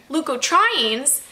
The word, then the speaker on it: leukotrienes: Leukotrienes, that is how Merriam-Webster told me to pronounce it, are inflammatory mediators released by mast cells, and some MCAS patients may be helped by leukotriene inhibitors.